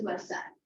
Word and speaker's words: Versailles: The treaty was signed in a place called yes, the spelling is Versailles, the pronunciation is Versailles.